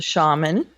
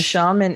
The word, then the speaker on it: shaman: That is Bruce with the shaman. Yes. And the shaman is... The shaman. Shaman. Shaman. It's shaman. Shaman. You can pronounce it either way. However... Charmin. Toilet paper. I prefer shaman.